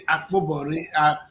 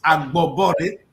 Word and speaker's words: Agbobore: Akpobore. We know Akpobore. This is Agbobore. So I will not be going to Akpobore. It's Agbobore.